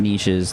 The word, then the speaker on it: niches: The riches are in the niches, even though it's pronounced niches. That doesn't rhyme as well.